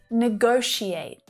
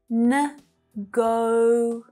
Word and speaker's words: negotiate: And the last trickiest one, negotiate. The end of the word is really tricky, right? It doesn't really look like how it should sound.